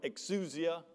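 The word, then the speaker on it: ἐξουσία: It's a Greek word, exousia, E-X, if you like to spell it with English letters, E-X-S-O-U-S-I-A.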